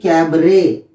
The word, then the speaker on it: cabaret: Rate, काबारेट, यानी कि कैबरे, इसका राइट प्रोनाउंसिएशन होगा कैबरे, लेकिन स्पेलिंग ये रहती है।